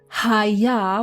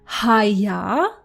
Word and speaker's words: haya: We have the word Haya with a h sound for he, it was, or it happened.